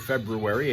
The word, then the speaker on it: February: today, the 26th of February. And yes, I say the R in February, and I don't pronounce the T in often.